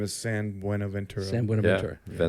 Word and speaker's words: San Buenaventura: name is San Buenaventura.